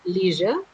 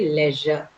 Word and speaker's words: leisure: In the some people would say leisure, some people would say leisure, right? Both are right. You can use either of the pronunciation. That's fine. Leisure or leisure. Just make sure that you say j and not sh, right?